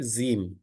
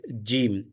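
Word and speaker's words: جيم: sound comes out Jim there is a mistake commonly in telu people they they mispronounce it as a z z is not correct it is Jim Jou e m gim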